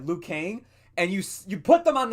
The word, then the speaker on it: Liu Kang: just want to make sure I'm getting the pronunciation. Yeah, Liu Kang, and you put them on the side to be ignored the entire time, and you focus on all the other characters.